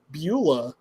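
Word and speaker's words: Beulah: Bula.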